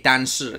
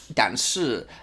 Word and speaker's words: 但是: 但是 and 可是对 Now, I was taught to say 但是 and 可是 That's the correct way to say it. 是 S-H-I 对但是 But...in Taiwan, the accent that a lot of